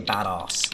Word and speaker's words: badass: Because I would say badass, like I would pronounce it like arse, but it's ass.